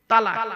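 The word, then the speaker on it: طلاق: চিন্তা নেই আমি এখানে বসে আছি কি বলেন তালাক তাইতো আরে বলুন না ভয় নেইরে বাবা বউ যাবে না পাগল মনে ভয় বউ চলে গেল আমার আমি বসে আছি এখানে বউ এনে দেব চিন্তা নেই হ্যালো তালাক বলেন তাইতো শব্দটা তালাক বলবেন না শব্দটা তালাক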